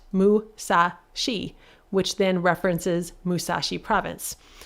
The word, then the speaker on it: Musashi: 634 M tall and that seemingly odd number was actually intentional because 634 can be pronounced Musashi which then references Musashi